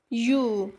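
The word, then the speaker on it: ewe: Table, ट, फिर यू। यहाँ पे देखा आपने कि ई डब्ल्यू ई जो कि वॉवेल लेटर से स्टार्ट है, लेकिन इसका उच्चारण य से हो रहा है।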